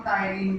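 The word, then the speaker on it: ptyalin: इसके अंदर salivary amylase enzyme होता है, जिसका दूसरा नाम टाइनिन भी है। इसमें पी साइलेंट रहता है, जो कि क्या करता है, हमारे माउथ में कार्बोहाइड्रेट का पाचन करना स्टार्ट कर देता है।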